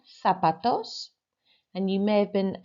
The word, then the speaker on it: zapatos: So number 1, zapatos. And you may have been caught out by that one, of course, because the pronunciation of the ZA sounds like a THA, fa.